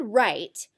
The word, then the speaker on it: write: For the word write, we are going to focus on that first silent W for the spelling pattern,